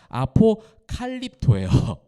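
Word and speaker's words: ἀποκαλύπτω: 네 여러분 발음 발음상에서도요 위에 거는요 아포크립토예요. 아포크립토 아포크립토 많이 들어 보셨을 거예요. 아포크립토가 숨기다라는 거예요. 감추인다. 아포크립토. 그다음 밑에가 아포칼립토예요. 아포칼립토.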